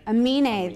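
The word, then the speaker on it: Aminé: I can't even pronounce his name. What's Amine? Amine, thank you.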